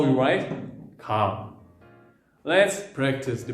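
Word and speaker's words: 가: Actually, it is not G or K, it is in between because it is not Ga, it is not Ka, it is Ka. Ka.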